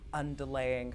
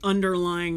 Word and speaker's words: underlying: lot of like the underlaying kind of plot threads of the Lord of the Rings comes in. Underlying, not underlaying.